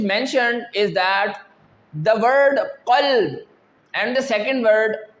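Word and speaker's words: قلب: The first example which is mentioned is that the word qalb and the second word kalb.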